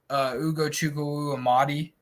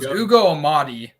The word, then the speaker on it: Ugo Amadi: Kind of wish I would have put Ugo Chukwuemadi in one of those. Ugo Chukwuemadi? Yes. Wait, is that correct? Did I just pronounce that correctly? No, it's Ugo. It's Ugo Amadi, but it's Ugo Chukwu.